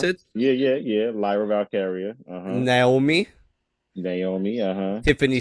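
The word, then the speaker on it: Lyra Valkyria: ladder match we have Chelsea Green uh uh lra valkyria is that how you pronounce it yeah yeah yeah Lyra valkaria uhhuh Naomi Naomi uhhuh Tiffany Strat Zoe Stark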